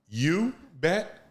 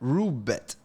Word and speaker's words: Roobet: You bet? Roobet. Oh, okay. How you spell it?